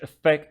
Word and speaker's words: affect: our lives decisions which affect our lives okay this is the verb stress on the second syllable have it in your